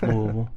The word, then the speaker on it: Louisville: It's Louisville.